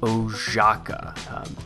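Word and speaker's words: Oszajca: total baller at what he does uh John oaka I know how his name is spelled but that is how you say his name John oaka is on the show today and John is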